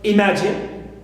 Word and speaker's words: imagine: For example, I have the verb imagine. Imagine. Clear? Imagine. So, ma is second. It is stressed.